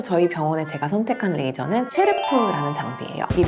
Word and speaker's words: XERF: 그중에서 저희 병원에 제가 선택한 레이저는 쉐르프라는 장비예요.이 미국 사람들은 절프라고 읽던데 절프 셰프 XF인데요.